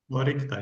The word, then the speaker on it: Orycta: Orycta, yeah.